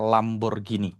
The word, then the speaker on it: Lamborghini: By the way, kata Fitra bacanya Lamborghini ya.